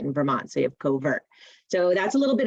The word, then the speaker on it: covert: vermont coverts and uh it's actually pronounced cover not covert and and it's because uh a cover is an old english word for cover or thicket uh and so a place that wildlife likes to hide and uh it also